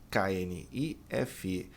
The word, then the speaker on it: knife: Faca, K-N-I-F-E. O K não é pronunciado, né?